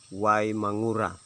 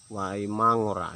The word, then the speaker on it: Waimangura: Itu mengikut berdasarkan pengucapan daripada bangsa Eropa saat itu. Karena sudah terbiasa dengan W Mangura, akhirnya sampai saat ini kita juga orang Sumba menyebutnya itu menjadi W Mangura atau Wai Mangura.